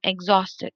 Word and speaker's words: exhausted: syllable absolutely and then exhausted exhaust i stress the second syllable okay i'm absolutely exhausted